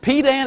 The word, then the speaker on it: pedant: Only the dullest pedant, is that the way you pronounce that word? P-E-D-A-N-T? Pedant.